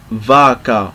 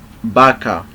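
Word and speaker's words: vaca: and we don't say vaka no we say Baka Baka we pronounce this as B okay Baka so let's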